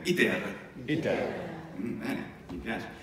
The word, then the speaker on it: iter: E poi un altro, diciamo spesso nella pronuncia scolastica, iter. Breve, breve, poi lunga, iter.